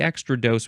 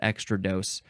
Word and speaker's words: extrados: for the here's the extra dose which of course I'm sure I pronounced it extra dose but that's not how it's pronounced um our one oh